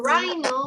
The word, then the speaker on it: rhino: When we are reading a word, we do not pronounce the letter H, for example. The letter H here, for rhino, we do not pronounce the letter H.